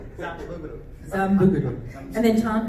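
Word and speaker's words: Xabungle: I pronounced it Zabungo, like an American way. Yeah. 正しい発音は何ですか？彼だけザンブグル。 You just say Zambuguru.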